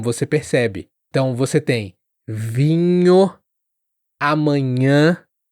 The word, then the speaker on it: vinho: E alguns alunos acabam também falando vinho, vino. Vino ou vino, ao invés de vinho.